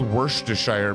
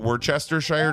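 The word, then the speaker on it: Worcestershire: it's it's apparently called worshire because that's how the British Mash together I like to call it Worchester Shire just to piss everyone off like I'd like to use as many syllables as possible well I'm not drowning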